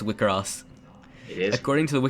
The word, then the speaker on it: WIXOSS: It is pronounced WIXOSS. It is. According to the Wikipedia page, Selector infected WIXOSS, pronounced WIXOSS.